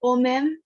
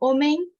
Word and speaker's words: homem: I noticed that when a word finishes with M, you guys are usually pronouncing it like, for example, omem, vem, but it's more like an NH sound. So omen, vem. Omen, yes. Interesting. Yes. Like okay, it's like an NG sound in English.